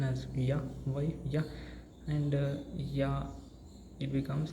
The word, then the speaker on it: ja: A is ya, A is a, ya, J means ya. J becomes ya, A becomes a, ya. So this word pronunciation becomes like ya.